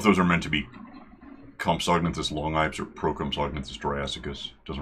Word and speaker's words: Compsognathus: I don't know if those are meant to be Compsognathus Longipes or Procompsognathus Jurassicus. Doesn't really matter. You can pronounce the G in Compsognathus, but strictly you shouldn't. Technically.